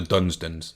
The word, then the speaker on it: Dunsdon: Is it Dunsden or Dunsdon, brothers? Dunsdons. It's spelled with an O. Dunsdons. Yes. But we would call that the Dunstons.